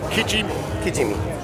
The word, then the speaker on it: Kijimi: Now, can you pronounce this for me? Because I'll mess it. Kijimi.